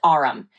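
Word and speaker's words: aurum: It's pronounced arum.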